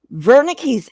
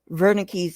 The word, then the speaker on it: Wernicke: zebra um he uh the dude was german which is why it's pronounced with a v so anyway um so